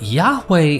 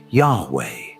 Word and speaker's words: Yahweh: As it's translated into YHW, which properly pronouncing his name as Yao or Yao, which is literally the God the Israelites worshipped later being pronounced as Yahweh.